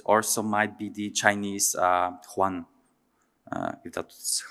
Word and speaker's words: yuan: Japanese yen, but also might be the Chinese yuan, if that's how it's pronounced correctly.